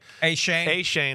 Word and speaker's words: Achane: Achane, excuse me.